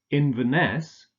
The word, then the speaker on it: Inverness: not Chicago Chicago Edinburgh Inverness stress on the last syllable and Aberdeen okay let's